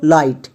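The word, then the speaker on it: light: প্যাটেন এর জন্য আইট তাহলে পুরোটা কি দাঁড়ালো লাইট এবার এখান থেকে আমরা অটোমেটিক শিখে গেছি জি এইচ সাইলেন্ট অটোমেটিক হয়ে যাচ্ছে নেক্সট এফ এফ এর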